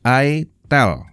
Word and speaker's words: itel: satu ini Oke itel ya bacanya itel oke udah paham ya I tell ya harusnya kalian sudah kenal